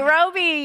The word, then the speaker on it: Roby: Did I say it right? Almost. Roby. Roby. Yes.